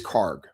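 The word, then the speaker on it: Kharg: And oh, it ends in a hard G. Okay, so it is Karg. Okay, I've been saying it wrong.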